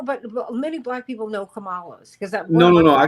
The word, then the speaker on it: Kamala: to do everything we can to get uh kamla Harris over the hump if anyone one can't pronounce her name that that they probably aren't supporting her anyway you know you know but many black people know Kamala because no no no I keep no no